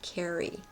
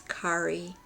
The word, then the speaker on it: Kye: Kye Innings anworth and I've been pronouncing her name Carrie and it's Ki KI Kye answorth is